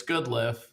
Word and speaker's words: Goodliffe: Yeah, when I'm in sales, it's Good Life, because they remember that. When it's real and it's family, it's Goodliffe.